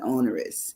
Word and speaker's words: onerous: Even though there's no W in onerous, it's Onerous. So there is no W, and it sounds like it is when you say it, but there isn't. So that's a matter of, obviously, pronunciation.